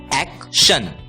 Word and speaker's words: action: TION की आवाज होती है शन, AC की आवाज होती है एक्, इसलिए ACTION का उच्चारण होगा एक्शन, एक्शन।